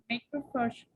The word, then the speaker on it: macrophage: You know, like uh, the PH sounds like an F, right?